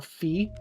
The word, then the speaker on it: Fi: where we know that Fi's name is pronounced Fi where for a long time before that and even after that there was contention as to whether it should be pronounced Fi or Fee.